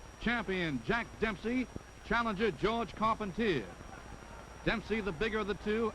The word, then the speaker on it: Carpentier: jack dempsey advancing on george carpentier or carpontier if you prefer the french pronunciation this was the first